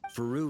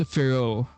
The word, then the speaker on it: Varka: Faru retired years ago, but he still gives me a stern stare every time we meet. Oh, so it's pronounced Firo.